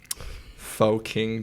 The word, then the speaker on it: Pho-King: It's called Faux King Champ. So and it's spelled PHO-King. Okay, So, there we but go.